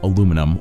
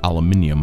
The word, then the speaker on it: aluminium: While grinding up this in a blender, it will produce fine aluminum or aluminium particles. Pronunciation differences depending on where you are from.